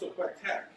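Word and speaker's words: opłatek: They call it, they say it's pronounced Oquetek. It's the most ancient and beloved of all these Polish traditions. Opletek is a thin wafer made of flour and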